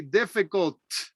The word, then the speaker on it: difficult: crowded cloudy difficult difficult make sure you pronounce that t difficult difficult heavy heavy spicy